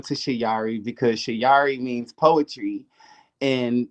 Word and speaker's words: Shayari: and um i love doing music you can find me at shayari that's my stage name um i changed my name to shiyari because shayari means poetry in swahili and i